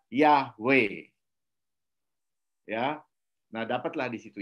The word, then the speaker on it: Yahweh: Sehingga yud he vav he itu dibacanya IAB itu dibaca Yahweh.